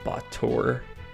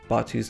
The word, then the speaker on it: Batu: that more later um Batu or as project Naga erroneously called him bour um not not really certain what they were going with that one um but uh in in Japanese it's batu's name is rendered as such Batu um not far removed